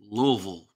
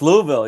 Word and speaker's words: Louisville: you're in Kentucky it's Louisville it's Louisville yeah I know that just Lille I have no s in there at all you don't Lord help